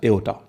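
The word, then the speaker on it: aorta: call it एओटा clear R S silent इसमें are silent होता है एंड we call it pronounce it एज एओटा now veins veins क्या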